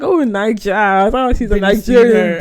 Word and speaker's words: Naija: So is that what's happening with Queen Nige? Oh, is it Clarence? Yeah. Did I say her name right? Queen Naija. Naija, yeah.